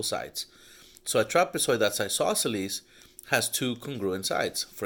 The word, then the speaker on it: isosceles: was telling you about isosceles we saw in triangles that it means two congruent sides just like the word isosceles it kind of sounds like the word eyes like the ones in your head so you have two